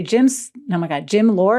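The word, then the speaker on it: Jim Loehr: I want to say Jim Lohr, is that how you say his name?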